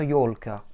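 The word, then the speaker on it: ёлка: Pour écrire yolka, yo, L, K, A, avec un A réduit, yolka. Еще раз, yolka.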